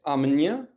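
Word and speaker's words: amanhã: और NH का एक बार फिर से, NH हमने पिछली क्लास में भी देखा था, NH को हमें अलग अलग नहीं उसका उच्चारण करना है, वो दोनों अक्षर मिलकर एक आवाज बनाते हैं, और वो है न्य, है ना, कन्या, है ना।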